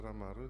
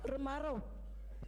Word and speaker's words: Ramaro: Ramaro, please, Ramaro.